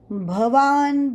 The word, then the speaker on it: भवान्: भवान् भीष्मश्च कर्णश्च कृपश्च समितिञ्जयः अश्वत्थामा विकर्णश्च सौमदत्तिस्तथैव च। भवान, बहुत लोग भ की जगह ब का उच्चारण करते हैं। भगवान उवाच भवान भीष्म, तो ये ब नहीं भ।